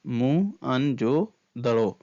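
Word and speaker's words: मोहनजोदड़ो: जिले में स्थित है मोहन जोदड़ो शब्द का सही उच्चारण है म अन जोदड़ो मोहन जोदड़ो की खोज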